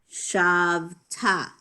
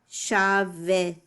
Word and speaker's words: shavta: The vowel under the vet, the shva, is silent in the middle of a word. So it's not normally going to be pronounced shavita.